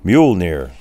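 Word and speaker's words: Mjölnir: Now, if you can pronounce this, you're a better man than I am. Mjolnir, so they tell me.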